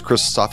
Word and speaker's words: Xtal Soft: bit crystal soft again read out as christosoft even though it's spelled xtal soft as japanese developer mostly